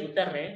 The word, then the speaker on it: Guterres: Ante ello, el secretario general de la ONU, don Antonio Guterres, y así es Guterres, no lo pronuncié mal, es así, Antonio Guterres, ha hecho